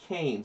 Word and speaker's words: Cairns: It's pronounced Cairns. It's Cairns. If there's an R and an A and an I, it's Cairns.